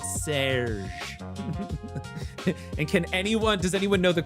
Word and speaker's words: Serge: Please tell me it's pronounced Serge. And does anyone know the quote when I say Serge? But the design is from this other designer. It is. Oh my God. It is pronounced Serge.